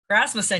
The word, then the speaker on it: Rasmussen: It's pronounced Rasmussen, right? We've always talked online. So is it Rasmussen or Rasmussen? Rasmussen, you actually got it right the first time.